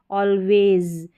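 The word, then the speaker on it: always: है, यानी कि स्वर का साउंड यहाँ पर प्रोनाउंस हो रहा है ऑलवेज।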